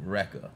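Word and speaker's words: Airwrecka: Now, obviously, it's supposed to be Erica, but her parents decided to name it, to spell it A-I-R, like air. Uh-huh. W-R-E-C-K-A, Rekka.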